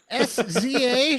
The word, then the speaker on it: SZA: Saza. Saza. Sza.